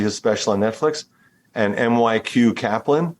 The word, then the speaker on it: MyQ: special on Netflix and MyQ Kaplan I say MyQ you pronounce it Mickey is that right Mikey Mikey Mikey Kaplan MyQ Kaplan who's